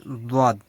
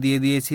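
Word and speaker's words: ضاد: মানে দজ এর মাঝামাঝি একটা উচ্চারণ মূলত আসবে।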